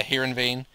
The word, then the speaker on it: Heerenveen: came in from SC Heerenveen, or how do you say that? Heerenveen? Yeah, Heerenveen. Which I did actually loan